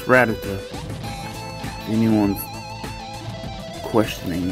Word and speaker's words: Rattata: And there's Rattata. It's Rattata.